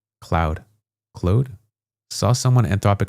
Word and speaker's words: Claude: It's pronounced code with an L. Claude.